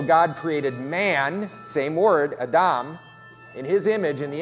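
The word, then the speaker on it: אדם: So the Hebrew word is just three little letters, and that little like T-shaped thing under it is a short A sound. So it's Adam.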